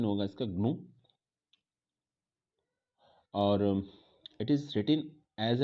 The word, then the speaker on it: GNU: पहले तो इसको GNU नहीं, प्रोनाउंसिएशन इसका GNU नहीं होगा, प्रोनाउंसिएशन जो होगा इसको ग्नू होगा।